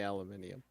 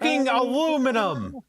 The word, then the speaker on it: aluminum: Learn to say aluminium. It's aluminum. You're the ones adding extra syllables to the word.